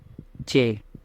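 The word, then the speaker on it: چ: बाद आता है ये, इसको बोला जाता है चे। और इसकी जो आवाज़ है, इसका उच्चारण वो हिंदी के चा जैसा है।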